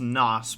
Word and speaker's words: NOS: was it was the it's pronounced nos but but go for